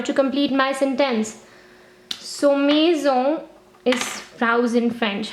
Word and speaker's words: maison: complete my sentence so maison is frozen french how is it written you know the m sound mu similar to the m in english a i in french has the sound a there are many combinations